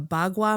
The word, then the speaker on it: bagua: that get into and I may mispronounce this is it is it called a bagua map the mapping so is that did I say that right you did yep so the bagua map